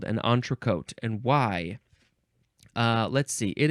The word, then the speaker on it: entrecôte: Entrecôte. Entrecôte. Lots of French words in this EN section. It is spelled Entrecôte, and the O you can spell